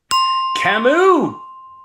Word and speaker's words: Camus: It's got to be Albert Camus. Camus Oh. is Soft it's a soft T. Rhymes with Shamu.